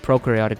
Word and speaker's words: prokaryotic: Just remember that pro rhymes with no, and prokaryotic cells have no nucleus.